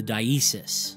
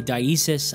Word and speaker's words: diesis: I've heard some folks in the community say dissis. I've heard some say dasis. I've heard dasis. Of course, not to be mistaken with dascese, the Catholic thing. But I don't know, maybe it's just an accent thing.